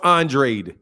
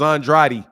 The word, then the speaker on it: Andrade: to be called like Demetrius Andre he wants Andre when the proper pronunciation everywhere else in the world is Andrade but he wants Andre because where he's from